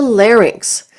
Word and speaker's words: larynx: up of muscle, ligament, and mucosa, and the larynx. This is pronounced larynx, not larynx.